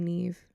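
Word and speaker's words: Niamh: Name pronunciation. Okay. For I'm pretty sure it's Ne. Please be Neve.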